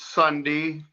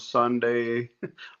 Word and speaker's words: Sunde: It's Sunday, kind of with the E pronounced prominent, but I've been called Sunday most of my life.